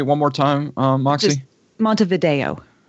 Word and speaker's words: Montevideo: Just Montevideo. Montevideo. Yeah, it's just that the video part of it is so the E is a long A, and that's the stressed syllable.